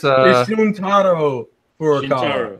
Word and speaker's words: Shuntaro Furukawa: Shiryuki Furukawa? No, it's you can. I'm close. It's Shuntaro Furukawa.